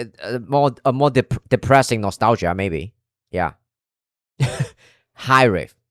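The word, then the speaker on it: Hiraeth: High riff. That's how you say it.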